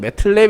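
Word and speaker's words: MATLAB: 그러면서도 좀 알려주시기 바랍니다 어쨌든 제가 알기로는 매틀랩 이라고 발음을 하고 어찌되었건 이 이름은 이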